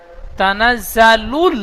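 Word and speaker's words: تَنَزَّلُ: তানাজ্জা যা সিটি মারার মতন উচ্চারণ হবে। তানাজ্জা। তানাজ্জা ঠিক এমন উচ্চারণ হবে।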